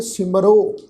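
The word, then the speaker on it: ਸਿਮਰਹੁ: बेनती साझी की सी, जदों किरियावाची शब्द हाहे अखर के पैर में औंकड़ की मात्रा लगी होवे ते औंकड़ की जिहड़ी मात्रा है वो अपने तो पहले अखर के उपर होड़े की मात्रा वांग उच्चारण होंदी है। हाहा अखर जिहड़ा है वो रारे अखर दे नाल मिल के मिलवी सुर विच उच्चारण होएगा। तो पाठ उच्चारण करांगे सिमरो, सिमरो सोई नाम प्रधान, तित नाम रसिक नानक।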